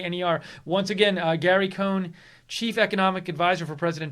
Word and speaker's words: Cohn: video right now from CNBC and they say cone so I don't know what this person was doing posting that it's Cohen everybody I've seen pronounce it his cone anyways